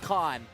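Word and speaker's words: Kane: Billy's last name is pronounced Khan. Even though he uses a K.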